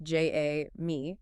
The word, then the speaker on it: Jamie: And we should note it's pronounced J A me.